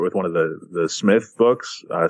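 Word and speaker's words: Psmith: one of the the Smith books I spelled PSM ith the P is silent yeah yeah yeah so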